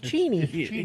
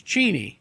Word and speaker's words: Cheney: Oh, I mean, Dick Cheney did. Yeah. Yeah. because he's cheateny because it's cheateny but he he just